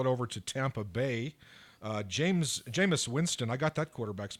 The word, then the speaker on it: Jameis Winston: Jameis Winston, I got that quarterback's pronunciation correctly.